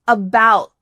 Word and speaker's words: about: The next word is about. About. Do you hear something similar happening here? That final T gets cut short. Your tongue is at the top of your mouth, but there's no air going through.